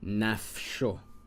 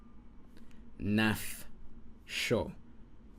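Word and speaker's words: נפשו: The Shoah, like if I have, come on, Nafsho, Nafsho, this breaks it up. Naf, one syllable, sho, second syllable.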